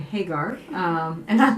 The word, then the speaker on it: Hagar: Sarah and Hagar we just decided that her pronounce her name Hagar um and I'd like to introduce you to